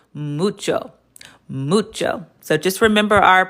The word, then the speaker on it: mucho: Is it macho? Is it macho? You just remember our rule rule. Remember our rule up here. There's always room for the Spanish oo. So, it's mucho mucho.